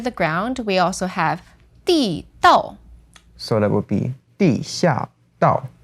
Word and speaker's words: 地道: So this word, 地道, is fourth tone, fourth tone. Now, I've got another pronunciation which has another meaning. That's 地道.